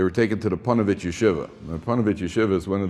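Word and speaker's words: ישיבה: i'm from chicago because most people pronounce it yeshiva right so that's incorrect it's yeshiva and they took this group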